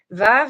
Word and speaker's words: Vav: Modern pronunciation in most modern Hebrew, Vav is pronounced as a V. Historical pronunciation, historically, and in some minority dialects, Yemenite Hebrew, Vav was pronounced as a W.